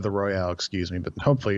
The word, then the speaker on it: Royal: The Royal. It's the Persona 5 the Royal. R-O-Y-A-L.